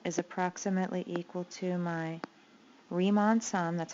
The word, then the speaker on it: Riemann: Okay, so now I'm going to estimate this going, my area is approximately equal to my Riemann sum, that's how you pronounce his name, Riemann sum, using left endpoints